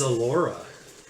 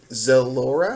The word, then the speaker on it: Elora: My name is Elora. Zalora? Elora with an E. Elora. The Z is silent.